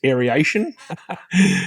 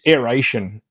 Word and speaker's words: aeration: Now, I do not understand why I hear on YouTube people pronounce it as aeration. It's aeration.